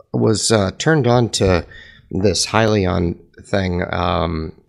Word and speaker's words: Hyliion: So I was turned on to this Hyliion thing, and it's pronounced Hyliion.